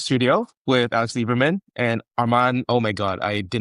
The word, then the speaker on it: Arman: used to say Armen, not Arman.